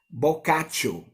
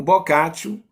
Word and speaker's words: Boccaccio: o em italiano no latim também o a pronúncia procure a mesma de no vernáculo italiano na no latim no clássico boccaccio giovanni boccaccio filho de comerciantes hoje nós iremos